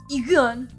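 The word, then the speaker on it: Eagun: Egon.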